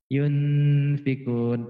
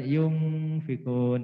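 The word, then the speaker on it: ينفقون: itu di sini ya yun pikun NY yunfikun bukan yungfikun ya dan bukan Yoon Hee pun bukan topi NY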